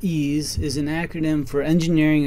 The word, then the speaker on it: EES: EES which is pronounced ease is an acronym for Engineering Equation Solver in a previous video we discussed ease functions that you can